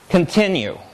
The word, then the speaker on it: continue: So if we think about the three syllables that make up this word, continue, the second one has the most energy. It's the loudest of the three.